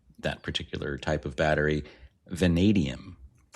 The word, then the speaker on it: vanadium: Venadium. Venadium. Okay. Long a long E after the E.